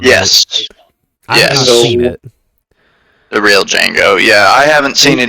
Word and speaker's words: Django: He is that other guy and then obviously has that exchange with Django where we learn that the D is silent.